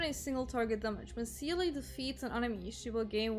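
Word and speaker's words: Seele: single Target damage but Sealy defeats Anonymous you will gain one extra turn or sailor if you want to pronounce the German she has a Sonic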